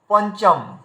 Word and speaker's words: পঞ্চম: চ বর্গে আসলে দেখতে পাবো, এই দেখুন প এর উপরে বিন্দি আছে, তারপরে চ আছে, মানে বিন্দির পরের বর্ণকে দেখতে হবে আমাদের চ রয়েছে। তাহলে চ যদি থাকে তাহলে চ ছ জ ঝ ইয়া, মানে চ ছ জ ঝ ইয়া পর্যন্ত কোনো বর্ণ যদি থাকে তাহলে ইয়ায় হলন্ত দিয়ে উচ্চারণ করতে হবে। তো তাহলে এই দেখুন উচ্চারণ করার সময় আমাদের কি করতে হয়, পঞ্চম। তো এখানে দেখুন আমরা ইয়কে